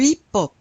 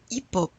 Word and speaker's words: hip-hop: Le hip-hop. You don't pronounce the H. Le hip-hop.